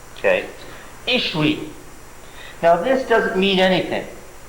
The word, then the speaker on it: Ishvi: They harden, so that the W's in Hebrew came to be pronounced as V's in the Middle Ages. Okay? Ishwi.